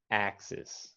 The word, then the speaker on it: axis: just like axis uh the difference is the the second vowel sound axis what you wrote what you wrote yeah was uh more of an e sound like a short e e but this word is an e axis axis and you got to emphasize the first syllable ax x's okay and